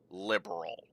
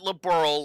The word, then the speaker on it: Liberl: for them to stop calling uh calling Liberl liberal. Pronounce it Liberl like it's supposed to.